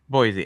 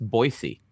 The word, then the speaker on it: Boise: like a two bedroom no no why choose Boise it's also it's pronounced Boise by the way it's pronounced Boise it is